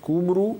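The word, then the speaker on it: Cymru: people is s uh which is spelled through y letter so that would be kumu may be considered as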